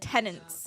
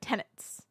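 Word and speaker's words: tenets: I said tenants instead of tenants one time. Actually, fairly consistently over three streams. But shut up. Shut up. I have a speech disorder kind of. I do. I'm disabled. I have a speech issue and sometimes my words come out wrong consistently wrong on the same word consistently for three streams multiple times. It's a tricky word to not add an N to is the issue being Canadian.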